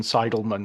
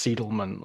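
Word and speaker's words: Seidelman: By all means, correct my pronunciation because I prefer to be corrected than to be continuously going, you know, Susan Sidleman when it's Seedleman of Vicky Very.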